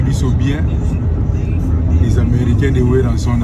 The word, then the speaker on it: Werrason: No, Weranson.